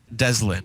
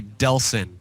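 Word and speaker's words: Delsin: huh it's right here it's spelled Delson it's d e LS i n Oh I thought it was Deslin I thought it was Deslin too okay Delson the name of our main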